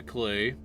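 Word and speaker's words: clew: Anyway, the achievement in this one is get a clue, and it's spelled C-L-E-W for clue, because of course you do.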